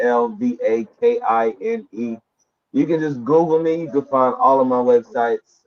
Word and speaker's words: Alvakine: Yo, it's Alvakine. It's spelled the same way I say it. It's Alvakine.